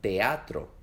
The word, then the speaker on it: teatro: en 2 sílabas, como en las palabras cacao o teatro, donde la A y la O, y la E y la A se separan en sílabas diferentes.